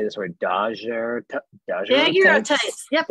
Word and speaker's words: daguerreotypes: I don't know how to say this word, daguerreotypes. Yep, daguerreotypes.